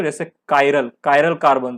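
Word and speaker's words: chiral: Chimney में तो ची हो गया और यहाँ पे चाइरल होता, लेकिन कायरल बन।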